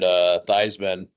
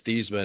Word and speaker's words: Theismann: He's like, yeah, my whole life I was Thiesman, and then my dad said that doesn't Theismann. rhyme. Yep. That doesn't Yeah. rhyme with Heisman.